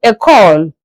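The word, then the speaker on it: école: School is called a call. A call. E C O L E. I'm pronouncing in English E C O L E. That's a call.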